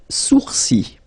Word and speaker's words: sourcils: Les sourcils, les sourcils. Okay, so it's quite strange because you get this LS at the end, but then, well, you don't pronounce them.